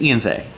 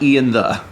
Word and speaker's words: Ian Thay: It's Ian Thay. Ian Thay Silverfire. It's not Ian the.